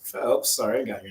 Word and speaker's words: Phelps: bring on Andrew Phelps Phelps not Phillips Phelps sorry I got your